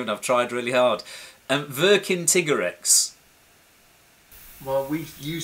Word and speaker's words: Vercingetorix: And I can't pronounce his name, and I've tried really hard. Vercingetorix. Well, you say Vercin. As far as I always thought, it was Vercin. Oh, Vercingetorix.